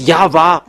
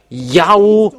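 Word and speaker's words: Yahweh: it there in Jewish they pronounce W into V. And there has been from minus uh 200 it's Yava who is called and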